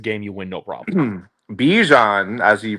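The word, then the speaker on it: Bijan: Bjan, as he pronounces it.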